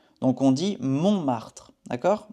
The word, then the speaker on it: Montmartre: Ici, il y a un T et on ne le prononce pas. Il est muet en français. Donc on dit Montmartre. D'accord? Montmartre.